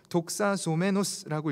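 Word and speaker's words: δοξαζόμενος: 특별히 사역의 결과에서 칭송받았다라고 하는데 여기서 쓰인 헬라어는 영광받았다라는 뜻으로 독사소메노스라고 읽습니다.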